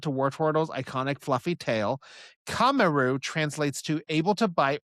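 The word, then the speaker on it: カメール: In Japanese, Wartortle goes by, it says right here, it's pronounced Kameru. That's not how it's spelled. It uses kame, which is the Japanese word for both turtle and tortoise.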